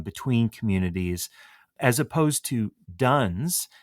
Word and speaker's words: dones: today are quote unquote nuns and duns um just because that sounds differently to our ear particularly when we're thinking about religion um than it is spelled I thought maybe just